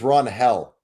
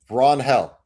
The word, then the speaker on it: Ranger: His name is Ron Hell. That's how you pronounce it. Wait, what? Ron Hell is how you pronounce Ranger Suarez.